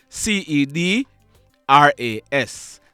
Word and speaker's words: Cedras: is on your screen his name is sedra well is it cedras it's spelled c e d r a s cedras Barrett next mon month on